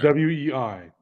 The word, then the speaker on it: Wei: W-E-I, because it's pronounced Wei.